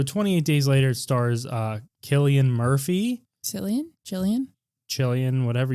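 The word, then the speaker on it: Cillian: Killian. Like the the beer. Usually it's spelled with a K.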